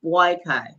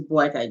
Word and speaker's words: Boakai: this his name is boyai boy yeah his name is boyai Joseph boyy so it's um I guess it would pronounced it was spelled b y k boyai all ftic I